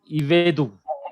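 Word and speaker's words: עבדו: Shiva comes, whether it is silent or vocal. Silent. Because it is followed by Short. Short vowel. Short Okay. vowel. So the pronunciation of this word is Ivedu.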